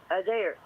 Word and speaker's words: Adair: Adair.